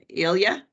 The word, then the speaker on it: Ilya: And when is Ilya Yep. am I pronouncing it correctly?